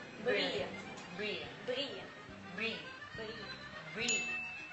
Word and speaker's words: brille: Brille. So you pronounce it like this. Brille. You have to make your face like this.